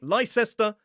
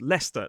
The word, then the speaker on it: Leicester: It looks like Lysestera, but it is Leicester. That even counts for Leicester Square in London.